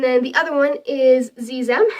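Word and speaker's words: xexem: the other one is zizem it's spelled x-e-x-e-m um and it's spelled with an X but it's pronounced with like a z sound because you know the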